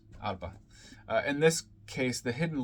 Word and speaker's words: Arbo: Arbo. It's spelled A-R-B-O, but it's Arba.